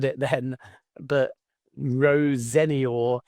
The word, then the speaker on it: Rosenior: Rosenia, and I've just said it then, but Rosenior is the family's preferred pronunciation. But to my knowledge, because Rosinia has been so commonplace for 40 years, they're fine with that as well.